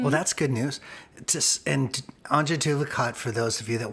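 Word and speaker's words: Antje Duvekot: And Anja Duvacot, for those of you that want to know how to spell it, and it's even harder to pronunciate than spell, it is ANTJEDUVEKOT.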